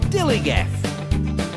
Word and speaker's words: DILLIGAF: And I can relate to their attitude too, in a word, dillygaff. That's spelled D-I-L-L-I-G-A-F, dillygaff.